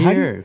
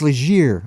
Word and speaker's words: Leger: So before we get on, I think I mispronounced your name. I bet a lot of people mispronounce it's it. Legier. It's Legier.